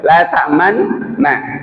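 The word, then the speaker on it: لا تأمنا: Bacanya itu harus dimonyongkan dulu. La ta'manna.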